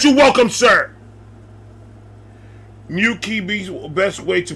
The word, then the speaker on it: gnocchi: Gnocchi, best way to pronounce it. Gnocchi.